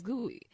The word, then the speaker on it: GUI: Windows is a graphical user interface (GUI), pronounced as GUI, between a computer and its user.